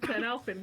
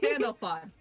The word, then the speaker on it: Sandalphon: I keep mispronouncing his name. I mispronounced his name like 2 times. Why you guys let me get away with this? Sandalphon.